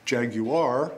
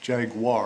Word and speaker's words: Jaguar: the three- syllable version Jaguar which is typically British and then we have the American pronunciation which is Jaguar are two syllables we've had this conversation